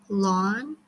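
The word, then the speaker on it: ln: there so this is long KL n it's pronounced as lon and this is operating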